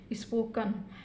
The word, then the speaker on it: spoken: देखिए फ्रेंड्स, 1 2 3, यहाँ पे 3 शब्द हैं तो इसका भी उच्चारण हम क्या करेंगे, अ के रूप में करेंगे। तो इसको क्या बोलेंगे, स्पोकन। इसी प्रकार MUSTER, यहाँ पर